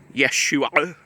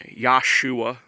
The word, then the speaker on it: Yeshua: First of all, it's Yeshua, not Yahshua. Definitely not Yahshua, like Alan Horvath says.